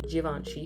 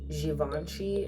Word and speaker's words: Givenchy: And I always be wanting to say it like Givenchy instead of like Givenchy. I don't know if you can hear the difference, but like a J instead of like a G, because I hear it both ways, and I feel like the J pronunciation seems like it's better, but whatever.